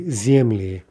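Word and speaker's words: земли: That'll be zemli, zemli.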